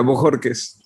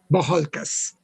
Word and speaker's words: Bojorquez: Do you pronounce Bojorquez? Yeah, Bojorquez. Bojorquez.